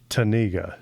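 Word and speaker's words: Tanega: Uh, Tenega.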